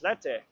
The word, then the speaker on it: Slete: Kyler Slete's name as Slete. He just asked to be called that way. Apparently it's his, it's how it's meant to be pronounced from the origin of the name.